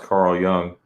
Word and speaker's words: Carl Jung: everyone should know who Carl Carl Young it's pronounced Carl Young Young yeah yeah he he was famous in